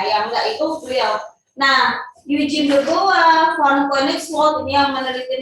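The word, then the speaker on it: Eugène Dubois: Yang akan kecuali ya, yang kalian pasti sering dengar ya, Eugene de Bois ya, tulisannya Eugene de Bois ya, bacanya Eugene de Bois.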